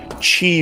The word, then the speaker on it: chi: It's pulse, brain waves, and chi waves or key waves, depending on how you want to pronounce it.